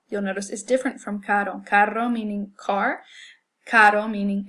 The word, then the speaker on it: caro: We'll say this word, butter, and then compare it to the sound in the word caro. Butter, caro. Your tongue is going the exact same place in your mouth, and you're producing the same sound.